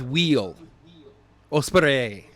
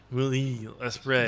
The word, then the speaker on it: Will Ospreay: the IWGP United States Heavyweight Championship, you got Will Ospreay versus Orange Cassidy. Yeah, you pretty much have it. Yeah, it's almost there. I would have gone with Wheel Ospreay. Will Ospreay.